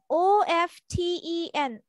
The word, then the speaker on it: often: আজোয়া তাহলে একটু বড় দেখা যাবে how often o f t e n often How often do you cook it? How often না টির উচ্চারণ করা যাবে না often open open না